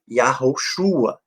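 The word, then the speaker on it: יהושע: o português como Josué mas no hebraico né a pronúncia dele é yahoochua na forma abreviada e Arthur Isso foi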